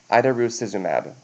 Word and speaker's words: idarucizumab: If they come back with a potential for bleeding risks, with a trauma or something, then we can give them the antidote, which is pronounced idarucizumab.